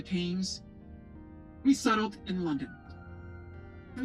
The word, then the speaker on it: Thames: Don't they not pronounce the th in the Thames? Isn't it the like hard a, like what you would do to like an animal? The Thames.